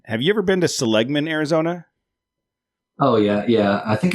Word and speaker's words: Seligman: Have you ever been to Seligman, Arizona? Oh yeah. I think it's pronounced Seligman, but it's just west on the 40.